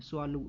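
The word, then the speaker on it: Tswalu: आप देखिए कि स्वालू कालाहारी एक रिजर्व है अफ्रीका के अंदर में, यहाँ पे टी लिखा जाता है, स्वालू कालाहारी, स्वालू ये टी बेसिकली साइलेंट रहेगा।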